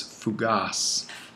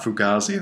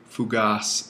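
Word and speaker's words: φυγάς: felgo to flee and the word is fugas it's not fugazi it's a great band but that's that's not what we're talking about here simply fugas accent on the alpha sigma and then the genitive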